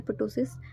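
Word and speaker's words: ptosis: ये है प्टोसिस, प्टोसिस कह लो या टोसिस कह लो, इसको पी साइलेंट होता है वैसे।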